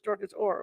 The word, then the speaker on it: Dorcas Hoare: Or the H is silent, so it's Dorcas Orr, okay?